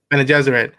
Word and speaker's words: Bene Gesserit: I'm asking the Bene Gesserit. Is that how you say it? There you go. Bene Gesserit.